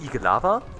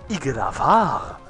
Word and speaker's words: Igelavar: Nicht Igelava, sondern Igelavar. Dicker, ich habe Betonung irgendwann in der Grundschule gelernt und ich sag nicht Lava, sondern Lava. Ich meine, okay, da ist noch ein R hinten.